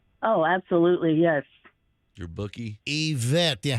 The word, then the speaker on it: Ivette: Oh, Ivette, but it's pronounced Yvette.